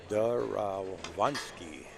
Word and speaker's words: Derewonski: Derewonski. Chris Derewonski. I asked him that question too because Snooker did notice the W in there, but the way that they pronounce it is Von, like V-O-N.